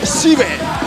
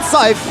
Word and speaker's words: Shive: It's Shive, not Scythe, not Sif. We thought it was Shive, we thought it could be Shiv, but no, it's Shive.